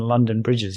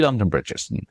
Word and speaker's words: London Bridge: Whereas if you say London Bridge, it will be a little bit slower. London Bridge.